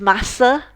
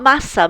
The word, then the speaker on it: massa: Now, it's not massa. Massa is pasta, and that is spelled M-A-S-S-A.